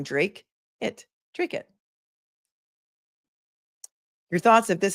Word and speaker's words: Dracut: I'm a bit behind, but it's pronounced Drake. Oh, thank you. I like that. I like that phonetic spelling. Drake it.